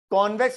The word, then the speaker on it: convex: लिख दिया था कि वो नहीं है कॉन्वैक्स, इट इज कॉन्वेक्स। ठीक है, समझ में आ गई बात। ये कौन सा है, ये क्या है, कॉनकेव मिरर क्या करता है, कॉन्वेक्स मिरर क्या करता है।